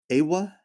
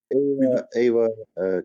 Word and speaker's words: Eywa: Is it pronounced EYWA? AWA? I keep EYWA. Yep, EYWA. EYWA, like that character from Avatar.